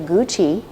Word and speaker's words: Gu Qi: that you eat, the Gu Qi (phonetically: goo chee) which is a great word